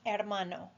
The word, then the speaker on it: hermano: Él es mi hermano. Él es mi hermano. Ella es mi hermana. Ella es mi hermana. Remember that the H in Spanish is silent, so those mean he is my brother, she is my sister.